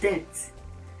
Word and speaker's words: debt: your death you don't say death the sound is silent you will not see this are you going to pay up your debt that's the right thing to say another word